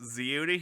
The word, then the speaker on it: Zeo: about it yeah yeah it's it's pronounced it's pronounced zione hero presents Baker Rangers After Hours movie discussions